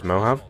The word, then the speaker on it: Mojave: Y'all don't know how to pronounce Mohav? Yeah, Mojave. it's Mojave.